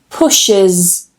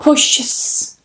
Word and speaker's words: pushes: Push, pushes, pushes. So not pushes, like I hear some students trying to do. You need to add an extra syllable. You need to add that schwa.